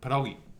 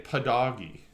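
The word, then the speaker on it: pierogi: I don't I don't I used to say it like I used to just say padogi cuz that's what it sounded like to me when she said it. It's not perogi.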